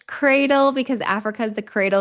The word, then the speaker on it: CRDLE: Valerie, I want to make sure I am pronouncing your company name right. Is it CRDLE? Yes, it's cradle because Africa is the cradle of humanity.